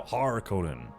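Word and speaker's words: Harkonnen: Yeah, there's Harkinin and then Har Conan, right? It's a not Conan, just it's not regular Conan, it's now Har Conan.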